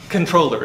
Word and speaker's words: comptroller: the original word is it looks like comptroller but that's not how you pronounce it because the word is french anybody here speak french